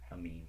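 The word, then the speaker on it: Amine: How do you say his last name? Amin. I always want to say anime or something like that.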